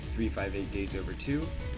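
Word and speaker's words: 358/2 Days: The 2DS games, Recoded, Kingdom Hearts Recoded, and Kingdom Hearts 358 Days Over 2. Do not correct me, that is how you say it.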